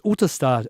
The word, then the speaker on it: Ottestad: And I spelt it out, and she went Ottestad, and he was like Ottestad. So it's Ottestad, and I was like, okay.